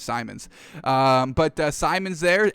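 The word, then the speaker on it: Simons: six anthony simmons uh simon simmons however you pronounce it i say simmons i think it is simon's um but uh simon's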